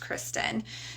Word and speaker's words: Christian: a search it's Kristen it's spelled just like that like the religion Christian but it's pronounced Kristen so Kristen at and